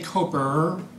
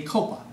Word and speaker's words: Copa: I don't say Coper. I say Copa. Now say it right or don't say it at all.